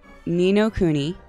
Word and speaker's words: Ni no Kuni: me see if i can say it right nino cooney yes i said it right wrath of the